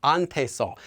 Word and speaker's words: 한테서: Now, you might have noticed that instead of saying 한테 and 한테서, I'm saying more like ante and ante서. So let's talk a bit about pronouncing this consonant, 히읗.